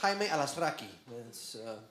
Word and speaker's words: Alazraqui: rocki my name correctly in Spanish is actually pronounced Carlos alasi but uh I grew up in the white